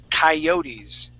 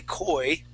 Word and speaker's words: coyotes: Okay, you may have, but this would be coyotes. Coyotes. Coyotes. Yeah. Exactly. So that beginning part, we would not say koi, we would say coyotes.